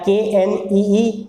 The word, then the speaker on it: knee: नो हो जाएगा इसका, या KNEE नी, यहाँ पर के कुछ नहीं है तो नी देख रहे